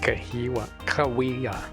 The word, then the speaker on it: Cahuilla: Like Cahuilla.